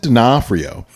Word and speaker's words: D'Onofrio: Keep saying the name wrong. What is his name? Vincent D'Onofrio. Vincent D'Onofrio. Vincent D'Onofrio there you go.